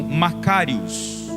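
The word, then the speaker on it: μακάριος: Então quando ele está dizendo bem-aventurados, no original, no grego, se pronuncia como Macários.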